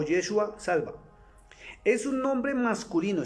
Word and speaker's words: Yeshua: Y hablo con Y, no con J, porque la J nunca ha existido en el hebreo.